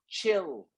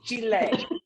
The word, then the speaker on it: chile: what are you doing you pronounce the e it's an egg it's at the end of it okay listen you don't say just chill it's chile okay well see this